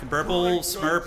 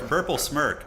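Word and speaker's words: Burplesmirk: Burple Smurp, or whatever the hell his name is. Smirk. Burple Smirk. Oh, I've been saying his name wrong the whole time, I think.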